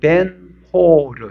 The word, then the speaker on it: 벤허: 허는 호르 이런 뜻이에요. 호르. 허 이게 우리나라 뭐 허시 허시하고 비슷한 발음은 나지만 우리나라 성시에 허이 있잖아요. 그 허은 아니에요. 아닌데 홀르 벤홀르 이런 뜻이에요.